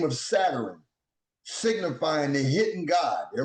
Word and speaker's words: Satur: Therefore, Saturn signifies the hidden God. The name Saturn is pronounced as Satur, S-A-T-U-R.